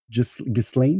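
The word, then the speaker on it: Ghislaine: On sait qu'en 1998 euh en anglais, ils disent Gislin mais on va l'appeler Giseln parce que c'est comme ça que ça s'écrit.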